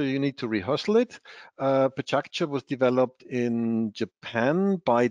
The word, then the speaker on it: Pecha Kucha: So I was told this is the Japanese pronunciation, Pecha Kucha. If you don't know how to pronounce it, many people call it Pecha Kucha.